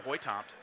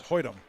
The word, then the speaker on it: Hoytomt: And in for the Memorial Old Abe, number 24, freshman Ava Hoytomt. It's Hoytum. Or Hoytum. Yep.